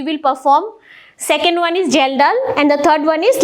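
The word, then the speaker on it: Kjeldahl: serum protein estimation are gelal method K is silent here K is silent the pronunciation is gelal Method and we have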